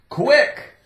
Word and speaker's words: quick: Quick. Q-U sounds like quick, quick, quick, quick, quick, quick, quick, quick. Could be quarter, could be quiet, quick. I-C-K, C is silent, ick, ick.